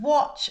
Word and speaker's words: watch: Also, notice that "watch" has a silent letter. The "t" is silent.